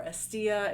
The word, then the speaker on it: Hestia: and I read it it was Hestia or estia in Greek pronunciation and when I read